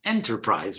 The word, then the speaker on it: enterprise: But by the way, the entrepreneur is the owner of an enterprise, right? And how do you pronounce that?